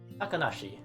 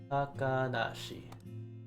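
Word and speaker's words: 高梨: And this name might be a name that you've heard of before, the pronunciation at least, is Takanashi. Takanashi.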